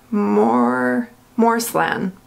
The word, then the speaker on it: Moreslan: take forever um I really like this one more more slim that's how you pronounce it and that's what the box looks